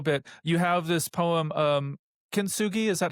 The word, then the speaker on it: kintsugi: You have this poem, kintsugi. Is that how you pronounce it?